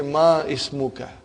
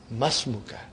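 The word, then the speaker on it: ما اسمك: Masmuka. Remember, hamzatul wasal. It will be incorrect to say ma ismuka. You should say masmuka.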